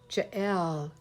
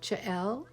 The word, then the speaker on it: Jael: say it nope nope i'm saying it right jael like that jl like pretend i have a french accent zebu play jael i